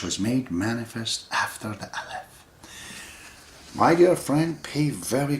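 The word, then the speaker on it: ألف: a a is aleph one pronunciation of the aleph is also alf if you say alf or alf you write it exactly the same way because the sounds are not a part of the alphabet it's just a sign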